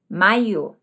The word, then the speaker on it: maiô: Com acento, maiô. Esse acento circunflexo mudou a pronúncia, o som, e mudou também o sentido.